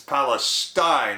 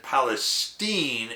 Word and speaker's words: Palestine: Palestine sits by the way that second word it's spelled the same as Palestine in the Middle East but we pronounce it Palestine in northeastern Ohio naturally people were skeptical from